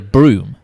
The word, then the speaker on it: Brougham: Like we've got round here, broom. It's Broom. pronounced broom, but it's spelled Brougham.